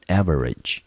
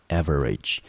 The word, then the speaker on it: average: average，我们看第一个母音 A，我们发成 a 的音 ver，念成 v。RAGE 的 A 我们发成短母音的 E，中音节落在第一个音节，这个字我们就念成 average， average。